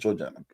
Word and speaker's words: Georgiana: Is it Georgiana? It's Georgiana.